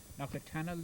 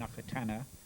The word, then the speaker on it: Knockatonnel: Knockatonnel, the locals call it. Knockatonnel in the maps, and Knockatana are local pronunciations. Yeah. But most of the people who lived here for any length of time call it Knockatonnel. Yeah. There's the L at the end of it.